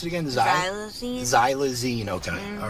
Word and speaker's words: xylazine: the withdrawal from the Z how do you pronounce it again zy xine xylazine okay all right and that's what's yeah it's